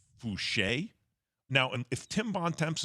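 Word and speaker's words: Foucher: i thought it was voucher i just read f-o-u-c-h-e-r i just didn't know it was a french pronunciation don't worry max a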